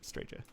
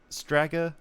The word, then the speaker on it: Strager: Thank you very much, Strager. Also, is it Strager or is it Stragger? What kind of G have we got here? Okay, but that's awesome. That works. Stragger rhymes with swagger.